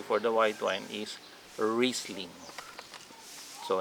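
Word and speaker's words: Riesling: share to you for the white wine is wristling so not riseling wristling okay i don't have that bottle here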